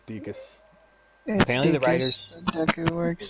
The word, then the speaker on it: Deku: Is it Deku? Deacus. Yeah, I think. Deacus. I asked at one point, it's Deacus.